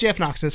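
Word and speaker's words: JFKnoxus: No, it's JF Noxus. JF Noxus. Yeah, How do you spell it?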